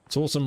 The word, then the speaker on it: Sawsome: Sawsome rhymes with awesome, with good reason.